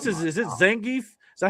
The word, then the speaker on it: Zangief: I mean, is this is you pronounce this? Is this Zangief?